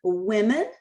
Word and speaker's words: women: sound you look at the word women that o makes the short i sound and if you look